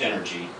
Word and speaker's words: NRG: leader of Kevin's first band NRG pronounced energy and a co-composer of